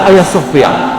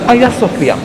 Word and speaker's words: Hagia Sophia: But have you heard about the meaning of the Hagia Sophia?